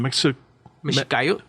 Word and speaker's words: Mexicayotl: Mexicayo. Yeah. Thank you. That's spelled MEXICAYOTL.